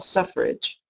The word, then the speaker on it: suffrage: vote however that word if you look at it sfff and then rage is not really how we pronounce it we pronounce it more as if the word with suff ridge ridge like in the top of a hill suffrage so that's a one